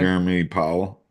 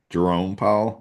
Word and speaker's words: Jerome Powell: How do you pronounce this man's name again? Jeremy Powell. Jerome Powell.